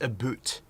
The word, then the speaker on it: about: as well yeah and americans it's not about it's a boot that's how canadians say that's the right way to say it okay all right